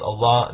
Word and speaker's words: Allah: aramaic and arabic and in arabic it's pronounced allah that it means god